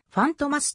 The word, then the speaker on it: ファントマ: は変わりないなお映画内ではファンとますと発音されるライバルのアルセーヌルパン